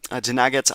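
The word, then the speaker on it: Dinagat: It does also include uh Daaget Island, I believe is how you say that.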